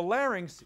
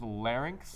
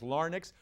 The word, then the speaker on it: larynx: choose I'm gonna choose larynx larynx l-a our way and act you got that right and some people mispronounce it as lar nix we did not in